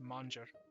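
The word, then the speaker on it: Manjara: a n j a r a but it's pronounced manger um and she has her own clan that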